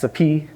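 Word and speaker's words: Sophy: my ex, Saphi, S-O-P-H-Y, and my best friend, Sapit, S-O-P-H-E-A-K. My name is pronounced!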